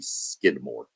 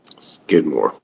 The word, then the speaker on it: Skidmore: When I was littleer and couldn't really pronounce things, I thought it was called Skidmark Tynan, but it's actually Skidmore. Skidmore.